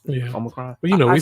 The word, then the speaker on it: Omicron: Is that how you pronounce it? Yeah. Omicron.